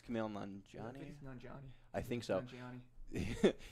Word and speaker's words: Nanjiani: I can't pronounce his last name. It's Kumail Nanjiani.